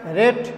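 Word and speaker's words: read: Next he will have রেড দি বুক, এই রিড থেকে এই ভার্বটা যখন পাস্ট ফর্ম এবং পাস্ট পার্টিসিপাল হবে তখন এটার উচ্চারণ রেড, রিড রেড রেড, স্পেলিংটা একই আছে।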